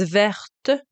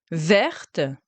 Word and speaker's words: verte: Then the feminine form of green is verte, verte. So here you do pronounce the E, verte.